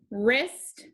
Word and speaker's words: wrist: Wrist, wrap, wren.